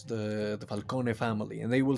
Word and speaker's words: Falcone: properly as gigante but when they say falcone they don't say falcon they say falcone and falone and it's falcone falcone or maroni which they